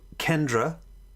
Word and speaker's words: kendra: kantra means the center so kendra is just the way that the indians pronounced it instead of kantra there isn't a kendra it means the center